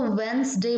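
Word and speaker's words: Wednesday: तो यहां पर सही हम लोगों का वेनसडे इसको वेंस डे बोलते हैं हो सकता है आपका यही आ जाए कि इनमें साइलेंट कौन सा है तो वेंस डे बाइलिंगुअल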